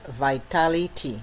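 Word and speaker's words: Vitalitea: Okay, it is, I pronounce it vitality, VitalitiA. You know, maybe people pronounce it differently, but I call it vitality.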